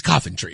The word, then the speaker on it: Coventry: She said, it's Coventry. I'm like, you're not even from here. Well, some of the people I met from there call it Coventry, so.